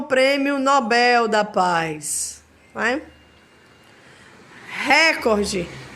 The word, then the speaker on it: Nobel: Mister é Mister né Nobel que é uma palavra oxitona acaba se transformando em Nobel eu já escutei muita gente dizer fulana ganhou o prêmio Nobel da Paz né recorde